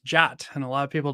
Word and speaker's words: JWT: to pronounce the JWT which is pronounced jot and a lot of